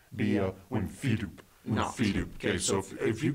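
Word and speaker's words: wimphydupe: Wimfidoop. Wimfidoop. How do you spell that? Emphasis on the fee.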